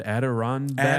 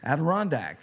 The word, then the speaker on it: Adirondack: Adirondack. Adirondack. Adirondack? Chairs. Yes. Adirondack.